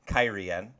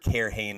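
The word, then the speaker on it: Cairhien: So, now that we know how to pronounce that city, Kyrian, I've heard Cairhane enough times that I just had to today.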